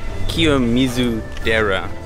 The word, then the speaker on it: Kiyomizu-dera: that we are at now is uh called kizu Dera which is actually a Buddhist temple yeah so